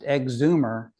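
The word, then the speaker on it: EGZMR: this gentleman called called EG z m r pronounced exumer hacked the radio and did an AM fix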